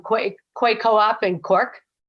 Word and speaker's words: Quay: We have a wonderful story about the, I'm going to say it wrong, Quay Co-op in Cork. Is it Key? Key Co-op? Oh, God. QUAY, is it? Co-op. Right? Yeah. Key Co-op, yeah.